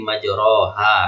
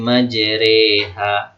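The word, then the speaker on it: مجراها: 41 Bacanya apa kan Bismillahi majroha kan Tapi ini dibaca seolah-olah dia beris bawah Bismillahi majreha re re RI harusnya Riha kan gak tapi majri majreha maka disebut imalah miring-miring sedikit Bismillahi majreha wa mursaha bukan majraha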